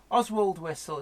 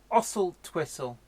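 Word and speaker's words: Oswaldtwistle: Oswald Whistle is another good one. Somehow makes Ossel Twistle.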